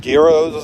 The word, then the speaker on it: gyros: gyros and eggs. Wait. Did you just put a hard G on that?